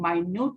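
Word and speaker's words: minute: और Latin word में एक मिनट होता है जिसको हम माइन्यूट बोलते हैं, और उसका जैसे यहाँ पर जो स्पेलिंग है MINUT, तो उसको बोलते हैं MINUTUS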